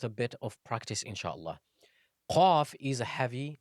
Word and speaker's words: ق: Qaf is pronounced from the deepest part of the tongue, so the closest to the throat and the furthest from the mouth.